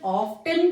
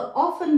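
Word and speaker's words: often: ऑफन की pronunciation ऑफ्टन भी सही है और ऑफन भी सही है।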